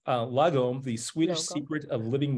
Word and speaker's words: lagom: author of The International best-selling um and it's pronounced lagom the Swedish Secret Of Living Well um and